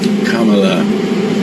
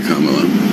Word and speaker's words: Kamala: name right roll it say Kamala CA my 5-year-old can say Kamala why can't people pronounce it correctly you guys cannot be